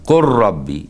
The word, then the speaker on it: قل رب: قل ربي، اللام هنا ما تنطقش بيها خالص، إدغام كامل. قل ربي، كأن القاف راء على طول.